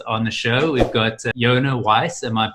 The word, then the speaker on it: Yonah Weiss: our star guest on the show we've got Jana Weiss am i pronouncing that correctly perfectly having with your South